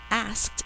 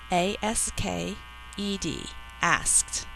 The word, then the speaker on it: asked: tense ending e d in this case the past tense ending Ed is saying its third sound that does not add an extra syllable to the word spell asked out loud a-s-k-e-d asked please write and mark